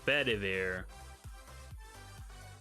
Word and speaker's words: Bedivere: Bedivere, that's Bedivere. I had to think of how to pronounce that name for a while.